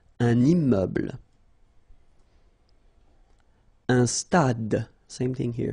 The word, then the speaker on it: stade: Un stade. Same thing here. Final E is not pronounced. Un stade.